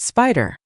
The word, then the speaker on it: SPDR: A famous SSJ ETF family is the SPDR ETFs pronounced spider.